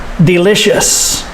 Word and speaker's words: delicious: like spicy food delicious listen to the stress second syllable delicious and the ious makes the sh sound delicious and bland